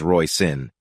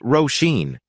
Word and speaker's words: Roshene: "I thought her name was Roshene," Carol said, saying it as Roy Sin. It's pronounced Roshene, but she prefers Rose.